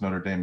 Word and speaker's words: Notre Dame: notre dame is spelled notre dame but it's pronounced notre dame because it's in indiana he also got his